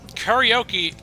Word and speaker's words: karaoke: Karaoke in Japanese actually is pronounced karaoke.